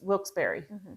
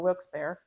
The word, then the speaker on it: Wilkes-Barre: Yeah, that's where Fort Wyoming is Wilkes-Barre or Wilkes-Barre.